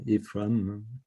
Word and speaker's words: Aephraim: don't think that's embarrassing it's pronounced ephraim ephraim okay thank you very